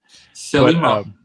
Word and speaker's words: Thelema: The it's Greek. It's Greek for like the path.